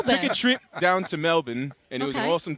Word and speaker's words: Melbourne: So we were in Mel Mel Melbourne. That's how they say it.